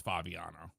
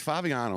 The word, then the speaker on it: Favignano: the the common mispronunciation the GNN are silent it's a sicilian name so it's Fabiano it's Fabiano ladies and gentlemen get